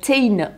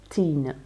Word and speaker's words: TIJN: Et alors, quand on ouvre, donc ici vous avez hashtag Tane Eyewear, ça s'écrit T-I-J-N, on Instagram to share the story of your eyes, de partager l'histoire de vos yeux.